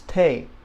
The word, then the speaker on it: te: in English essay okay that helps this is Tay okay no longer is it a t for